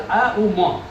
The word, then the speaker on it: ओम: बताने जा रहे हैं ओमकार का उच्चारण उसी प्रकार से अ उ म आप यकीन करिए पूरे